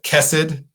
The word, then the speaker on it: Khesed: chow as well as ever lundi nelson of kes 'add that pronounced it right again we were working on